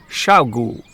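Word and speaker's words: 小狗: By the way, in Chinese, dog is pronounced gu, gu. And if it's a very small dog, you can say xiaogu, xiaogu.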